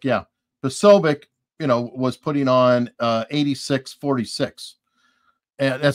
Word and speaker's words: Posobiec: Posobiec, yeah. Posobiec, was putting on 8646.